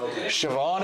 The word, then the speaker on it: Siobhan: Siobhan is correct.